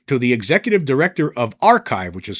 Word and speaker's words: arXiv: And it says here that the Disclosure Foundation has sent a formal letter to the executive director of arXiv, which is spelled a r x i v, but it's pronounced arXiv, regarding the rejection of two recent submissions from astronomer Dr.